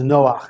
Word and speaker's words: Noach: the portion of Noah it's also known as Noah that's the correct way to pronounce his name so everybody seems to know